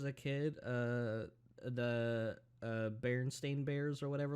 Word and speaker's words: Berenstain: kid uh the uh berenstain bears or whatever like that bernstein bears apparently it was never uh berenstein bears it's berenstain bears yeah bernstein or bernstein